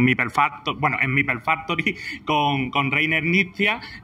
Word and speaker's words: Knizia: Well, the pronunciation is Reiner, Knizia, so it's a hard K.